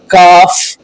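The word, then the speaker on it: calf: एफ, के, एम से पहले आने वाला एल साइलेंट होता है, जैसे काफ, वाक, याक, काम, बाम, पाम।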